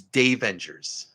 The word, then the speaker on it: Davengers: have to correct you it's day Avengers oh Dave Avengers oh okay yeah yeah I uh because my name's Dave and so I pronounce